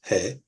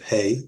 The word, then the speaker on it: He: he is next and he is pronounced like this he that hey you will hear um our ashkenazic Brethren pronounce it hey we do not pronounce it that way it is he and it is pronounced like the letter H um basically most of